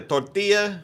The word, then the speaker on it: tortilla: And it's like, why do you guys say it like that? Tortilla. It's like, you want a tortilla or whatever, and then he's like, tortilla, tortilla. You gotta roll those R's.